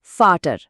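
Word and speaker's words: Vater: ইংরেজিতে যেটা V, German ভাষায় সেটি এফ বা বাংলা ফ এর মতো বেশ তীক্ষ্ণ একটা সাউন্ড দেয়। উদাহরণ হিসেবে ফাটার শব্দটা দেখা যাক, যার অর্থ বাবা। ইংরেজিতে আমরা হয়তো ভাটার পড়তাম, কিন্তু জার্মানের সঠিক উচ্চারণ হবে ফাটার।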